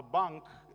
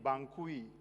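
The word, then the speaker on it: banque: There's a B-A-N-Q-U-E. Kindly try to pronounce that. It's just bank. My goodness, I kept saying Bankui, Bankui, Bankui.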